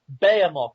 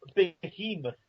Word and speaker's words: Behemoth: butchered our British language it's bamoth not Behemoth you idiots vehicle not